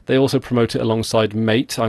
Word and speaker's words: MATE: also promote it alongside mate I know that it's pronounced I think it's pronounced matei but I being British it's it's it just looks like mate to me and they promote its